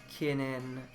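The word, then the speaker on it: 禁煙: Note the difference between the word for no smoking, kinen, actually 4 syllables, kinen, and the word anniversary, kinen, 3 syllables, kinen.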